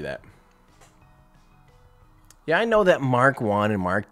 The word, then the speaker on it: Mk1: Yeah, I know that Mark 1 and Mark 2. Sorry, I know. Sorry that I said MK1. I know it's pronounced Mark. Mark 1.